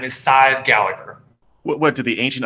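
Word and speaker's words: Sadhbh: sidib Gallagher in Miami her name it's actually pronounced side it's that's a very it's an Irish I don't know if it's Gaelic or whatever s-i-d-h-b-h it's a very weird spelling pronounced like five but with an S size her name is Scythe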